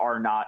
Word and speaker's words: R0: not phenomenon um r0 some people call but r not is how you pronounce that little your lowercase o um our zero and basically our knot basically is a simple